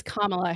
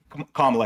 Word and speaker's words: Kamala: that would have It's Kamla Harris. Kla Harris say it wrong.